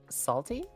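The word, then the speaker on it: Psalty: Salty spelled with a P at the beginning to reference the book of Psalms.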